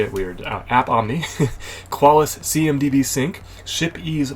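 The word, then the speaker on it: AppOmni: hand side it's from App Omni Inc so um they lost the lowercase which made me say it weird app Omni qualis cmdb sync ship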